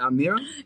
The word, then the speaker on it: Almira: name calling the entire time my is it our mirror it is it is perfect perfect okay have